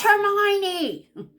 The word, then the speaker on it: Hermione: Why is there an O there if it's I? Long I.